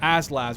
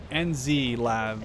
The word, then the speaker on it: NZ LAV: I mean, these Enzlavs are, it's called them Aslavs, but they're actually pronounced, they're NZ Lav, like New Zealand Lav.